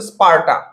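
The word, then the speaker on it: স্পার্টা: তাহলে এই যে এথেন্স এই যে স্পারটা স্পারটা এটার উচ্চারণটা হচ্ছে স্পারটা এথেন্স স্পারটা এই দুইটা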